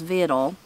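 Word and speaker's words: victual: Is Vital. So it's spelled V-I-C-T-U-A-L. And then it says a variant form spelled, you could spell it Vittle, V-I-T-T-L-E.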